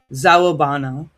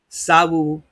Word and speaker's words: Sawubona: The traditional Zulu greeting, Zawabana. Oh, Zawubona. I don't know how to pronounce these exactly, so if I get it wrong, I apologize. It's Sawubona, Sawubona.